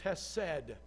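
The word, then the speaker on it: חסד: to translate it is the Hebrew word has said you can spell it out either with a CH or just an H but it is has said it is it is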